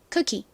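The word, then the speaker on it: cookie: OO는 원래 긴 우 소리가 나는 경우가 많지만 이 단어에서는 길게 소리 나지 않고요. 그냥 짧게 쿠키, 쿠키 이렇게 발음이 된다는 점 설명드렸죠?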